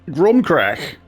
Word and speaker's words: Crom Cruach: It's not Ake, because it's not got an E on the end, so I'm just going to pronounce the CH as a K. So, CROM CRUACH, for me, it's like,